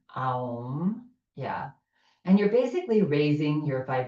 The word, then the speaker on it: Aum: top of your head as you say the 3 syllables A, U, Aum.